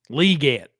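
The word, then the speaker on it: Xavier Legette: probably their third receiver is it legate I don't know I don't know do this Goodell announced it and then they asked him about it and he was like you got to say it like there's two E le get Le okay I think it's Xavier Le we will get to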